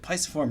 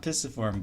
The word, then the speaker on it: pisiform: mean i know like some of the navy teachers said like pisciform not pistiform but i'm like my mnemonic